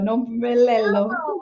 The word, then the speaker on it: Nompumelelo: Okay, Nompumelelo. Did I say it right? No. Lello. Lello. Nompumelelo. Lelo, Nompulelo. There, I got it.